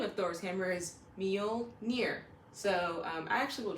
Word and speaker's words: Mjölnir: Saga but the name of Thor's hammer is meal near so um I actually will drop a link on how to properly pronounce that as well in the description along